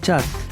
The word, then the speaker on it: Kyat: in the provided link The official currency is the Kyat (pronounced 'chat') One USD is equivalent to about 1500 Kyat.